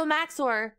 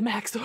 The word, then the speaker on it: Max0r: Wait, why does backdoor and Max0r rhyme? I'm mega sus right now. I'm very sus. Dearest Max0r, do you realize that your name rhymes with backdoor?